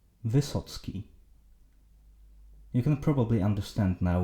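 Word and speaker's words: Wysocki: So it's either this or this, and it is pronounced Vysoc'ki.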